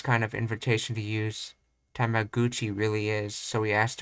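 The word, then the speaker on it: タメ口: It probably in its lineage it was spelled differently, but I think it's spelled gu now, even though it comes from the word kuchi, which is mouth.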